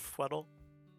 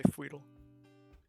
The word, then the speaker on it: Fweddle: Yeah, and I guess since I've never really mentioned it, it's pronounced Fweddle. Some people will probably say Fweedle. I don't care.